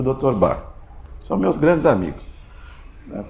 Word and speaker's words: Bach: pro mundo todo, mas a pronúncia alemã que é bar, né?